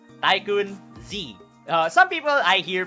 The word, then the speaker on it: TaikunZ: right so here's me my name is taikan z you you can pronounce it as tycoon z uh some people i